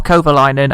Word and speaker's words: Kovalainen: behind our teammate Heikki Kovalainen or Kovalainen as i supposed to pronounce him so let's see what